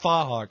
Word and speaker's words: fauxhawk: So, I'm getting a fauxhawk. Good. Uh that I will get I'm going to get a haircut tonight. Pronounced fah hawk.